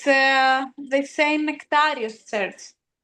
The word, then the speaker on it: Nectarios: There's a really good movie called Man of God that is about the How do you say Nectare Nectare Nectare Nectare Nectarios.